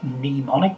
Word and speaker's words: mnemonic: actually a mnemonic and mnemonic itself is a funny word uh it's it is as i say it memonic but there's a name on the front of it you spell it m n e m o m i c and you can make